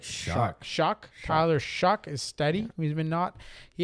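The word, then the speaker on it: Shough: Tyler, how do you say his name? It's like Shuck.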